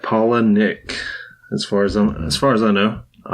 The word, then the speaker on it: Palahniuk: Our book this week is Survivor by Chuck Palahniuk. That's how you say that. That is how you say that, Palahniuk.